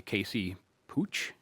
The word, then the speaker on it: Pooch: There's a primary challenger for Ramaswamy, Casey Pooch. Is that how you pronounce it? Putch.